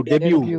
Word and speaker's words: debut: Debut. DEBU. T silent है. T silent. डेब्यू.